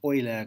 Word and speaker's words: Euler: the name comes from I try to pronounce at the British way you'll Aryan for a fan oiler Guillen which is a more joing way of saying the same thing okay a vertex set